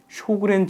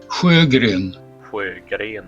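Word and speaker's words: Sjögren: 스웨덴 원어로 들어보면 사실은 발음이 이렇습니다. 후에그렌. 그런데 미국식 영어로 읽어서 쇼그렌 혹은 쉐그렌이라고 보통 부릅니다.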